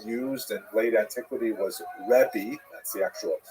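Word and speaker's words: רבי: rav alone is preferred the term rabbi with that pronunciation. It's actually kind of nonsensical in Hebrew. You don't actually have that word pronounced that way in Hebrew, but that's the way it came down to us in English.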